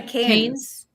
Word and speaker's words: Cairns: Just don't say the R. Just say Cairns. Cairns? Like Cairns, France? No, just don't try it. Just don't. Look. Cairns? Don't do it. Cairns?